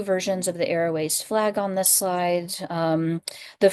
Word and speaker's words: aroace: And if someone is both asexual and aromantic, they may go by arrow ace, which is just those 2 words put together. And image description, I've put up 2 versions of the arrow ace flag on this slide.